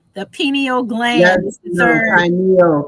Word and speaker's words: pineal: You got it with the pronunciation. The pineal gland. Yes, pineal.